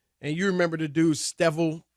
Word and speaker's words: Streveler: And you remember the dude, Stevel. How you say his name? Rob G. Streveler?